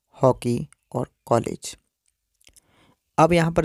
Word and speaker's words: हॉकी: ऐसे ही आप हॉकी शब्द में देख सकते हैं, हा के ऊपर जो चिन्ह लगा है, यह चिन्ह अन्य विशेष ध्वनि वाला चिन्ह है, इसका उच्चारण हम विशेष ध्वनि के रूप में करेंगे, जिस प्रकार से हॉकी।